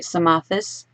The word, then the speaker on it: Psamathes: Or you could go for maybe an easier version to say in English would be Psamathes without the P and the Th.